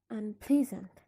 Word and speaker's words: unpleasant: Here, the affix is not stressed. It's considered as if it's not there, so the stress remains on the stem and on the same syllable, ple, unpleasant. Next, the stress remains on